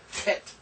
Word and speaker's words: Het: Just for now, realize it's not H and it's not K. It's not Ch either. It's Het.